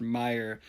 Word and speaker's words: Meyer: musical talent so the last name is pronounced Meyer as in muck and mire keep up the good